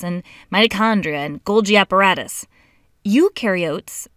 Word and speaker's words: eukaryotes: Eukaryotes, the U rhymes with do, they do have membrane-bound organelles.